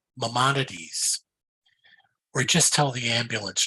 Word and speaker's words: Maimonides: It's pronounced Maimonides, or just tell the ambulance driver you want to live.